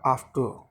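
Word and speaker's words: after: का यूज़ नहीं होता, आर से पहले वोवल दिया हो तो आर का यूज़ नहीं होता। सही ऑप्शन होगा आफ्टर, आफ्टर तो सही ऑप्शन कौन सा है, सी।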